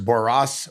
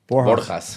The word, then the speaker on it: Borjas: So next we got Rodriguez versus Boras, Boras, Borjas. How do you say it, Cleo? Borjas.